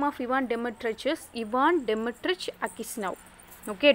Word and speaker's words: Dmitrich: Ivan Dmitrich, that D is silent here. Okay, Ivan Dmitrich and his wife, and Makar Semyonich.